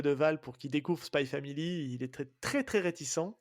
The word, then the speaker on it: Spy x Family: alors spy family donc apparemment prononce pas le X donc c'est spy family il y a les